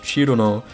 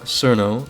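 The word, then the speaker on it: Cirno: is cerno and yes i know that it's pronounced chirono and not surno i know but look i can look at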